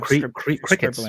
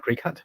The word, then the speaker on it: Cricut: And you call it crickets, right? Not Cricut. I thought it was Cricut, but then Alannah, who knows what it's. So yeah, I think that's how you're referred to it supposed to pronounce it. Yeah. Cricket. It's a play on words.